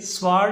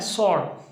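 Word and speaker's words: sword: तो भाई ये स्वॉर्ड नहीं होता, इसे स्वॉर्ड नहीं पढ़ना, इसे पढ़ना है सॉर्ड, सॉर्ड, सॉर्ड of Tipu Sultan.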